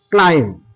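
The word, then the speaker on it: climb: তাহলে আমরা বুঝতে পারলাম যে তাহলে এম এবং বি যদি পাশাপাশি থাকে এবং এই বি এর পরে যদি কোন ভাওয়েল যদি না থাকে তাহলে বি এর উচ্চারণ হবে না। এর পরের উদাহরণ আমরা দেখে নেই। ক্লাইম ক্লাইম ক্লাইম কল আকার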